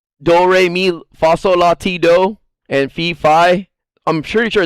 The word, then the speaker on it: Fi: sure that this is fi I pronounce her name fee but I'm sure it's fi and the reason why